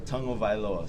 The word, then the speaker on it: Tagovailoa: name for us uh tongue o vioa so you say tongue first o vioa what's the funniest um